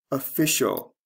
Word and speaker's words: official: Noun, office, official. The stress changes from first to second syllable.